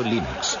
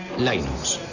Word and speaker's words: Linux: eso se pronuncia Linux Bueno yo Linux lo pronuncio Linux sin embargo si fese Linux no hayuda de que lo pronunciaría este de los Estados Unidos lo más seguro es que lo pronunciaría Linux pero a linus thoral le importa un bledo